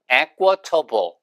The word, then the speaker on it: equitable: 그리고 그거의 형용사형이 equitable, equal의 액센트 바뀌어서 equitable.